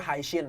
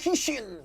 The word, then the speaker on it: Hishin: Sampai sekarang tuh gua waktu itu pernah berantem sama orang karena menurut gua itu bacanya Haishin, tau nggak? Shin tinggi. Diberantem gua sama orang kayak ini Oh, bacanya Hishin. Hishin kan yang bener Iya, kan?